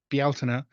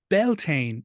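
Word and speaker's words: Bealtaine: be is s um also it's never belan it's Bel so those are the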